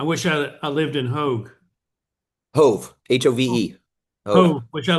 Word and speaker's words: Hove: It just looks like love, but it doesn't rhyme with love because it's love and hove.